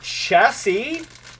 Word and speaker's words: chassis: And then we've got the chassis. It's such a good word because it's pronounced chassis, but it is spelled chassis.